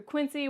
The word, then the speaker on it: Quincy: You're probably going to have to go through Quincy, which is tons of traffic, and I know that people around here say it Quincy, but to me it's going to be Quincy. It's just, that's how you say it.